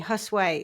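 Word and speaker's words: Josué: Josue is how it's said in Spanish.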